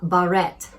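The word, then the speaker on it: Bahret: Barrett.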